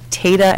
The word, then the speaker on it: Tata: I believe it's called Tata and Howard, but I keep pronouncing the first name wrong. Tatum and Howard. No, Tatum. It's T-A-T-A.